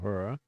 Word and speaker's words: Uhura: Uhura, of course, this is the wave 3 now. Uhura. Oh, that's how it's spelled. I could not figure out what that word is that you kept saying. Uhura?